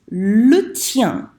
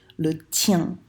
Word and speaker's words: le tien: on Skype, I said, it rhymes with rien. So you know how to say rien, just make sure you make it rhyme with that, okay?